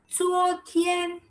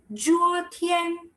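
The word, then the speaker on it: 昨天: The Z is not Z like in English.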